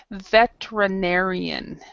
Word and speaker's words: veterinarian: forget this um RI veterinarian is how you pronounce it veterinarian veterinarian yes veterinarian